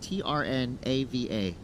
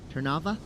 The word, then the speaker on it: Trnava: His hometown, a little hard to pronounce here because there's only 2 vowels, Trnava. Trnava? That's what I was thinking. I was also trying to practice that. Trnava.